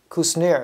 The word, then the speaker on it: Kushner: I should know how to say the name easily. My sister-in-law, she is a Kushner. Kushner is actually how you say it.